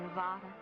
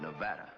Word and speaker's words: Nevada: You dance very well for a man from Nevada. By the way, that's pronounced Nevada. I notice you give it the broad ah.